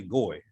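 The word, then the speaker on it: גוי: The Jewish people, they don't say Gar, they say Goy. We say Goyim.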